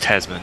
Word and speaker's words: Tasman: Is it the Tasman Sea between Well, it's it's pronounced Tasman, but yeah.